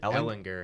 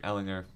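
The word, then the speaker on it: Ehlinger: Is it Ellinger? Ellinger. Yeah. Okay, I want to make sure I pronounced that right.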